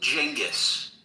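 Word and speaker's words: Genghis: It's and and David, it's pronounced Jenis.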